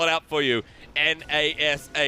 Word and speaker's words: Nashor: Nashor. It's time. Nasha? Oh, it's Nasha. Baron Nasha time.